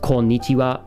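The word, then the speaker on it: こんにちは: Like, if you spelled konnichiwa, it would also be spelled with this, but it's pronounced wa, but there's not a lot of times where it's pronounced with a W.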